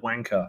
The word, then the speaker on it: wanker: not say the word wanker right because we say it weird yeah we pronounce the r apparently wanker yeah yeah it sounds wanker uh is that now